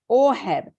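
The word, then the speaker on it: אהב: it's number 157 in the Hebrew it means a h a b we know it as Ahab but it's pronounced orhab and it means to have affection sexually or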